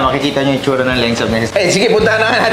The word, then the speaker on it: Laengsaab: Lengsab. Parang laeng, no? Pero ba ang basa Lengsab? Lengsab yung pronunciation niya.